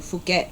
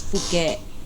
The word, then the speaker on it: Phuket: But the ramen over there was good, and then we stayed in Bangkok for 2 days, and then we flew to Phuket for 8 days.